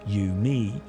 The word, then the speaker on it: UMI: The agreed protocol was dubbed universal musical interface, UMI, pronounced U, me, until Dave Smith aired